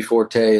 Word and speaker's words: Forte: was intended to be Forte, and I think the word comes from Italian that was actually Forte or something.